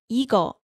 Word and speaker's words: 이거: 이 plus 컷, so 이것, but you can say 이거.